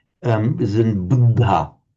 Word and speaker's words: Buddha: That was dental. Um, but just the little aspir sound coming out after it. Buddha. Budda. That was much better. Okay, we can have the authentic Indian pronunciation from Shellaka.